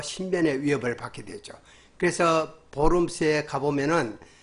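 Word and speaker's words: Worms: 그해 4월에는 신성 로마 제국 황제인 찰스 5세, 칼 5세의 주재 아래 보름스, 영어로 하면 월음스입니다. 이게 벌레들이란 말이죠. 근데 이제 독일어 발음으로 보름스라고 그래요.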